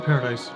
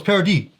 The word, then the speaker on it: Paradis: I think it's pronounced paradise. Paradise. I know, I just like saying paradise. Really? Paradise sounds better. I know it's parody. we've Yeah, said- no, it's parody. Yeah. That's how they say it.